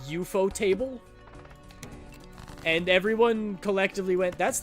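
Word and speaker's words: ufotable: Yeah, but it's kind of like uh you know how Ufootable is technically supposed to be pronounced EUO table and everyone collectively went that's the dumbest thing I've ever heard.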